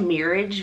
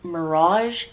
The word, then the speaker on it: Mirage: I said it wrong I said marriage because I just I'm a type of person that reads it how it looks like how it's spelled that's how I read it but one of my favorite youtuber Ali Glines said it's Miri Mirage Mirage I said marriage again